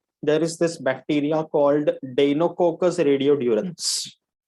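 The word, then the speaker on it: Deinococcus radiodurans: Okay, I want everybody to pronounce this name, डेनोकोकस रेडियोड्यूरेंस. बोलो. डेनोकोकस रेडियोड्यूरेंस.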